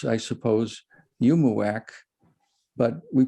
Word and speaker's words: UUMUAC: to pronounce i suppose yumuwak but we pronounce it umiak instead we we make that third u into an i we say um the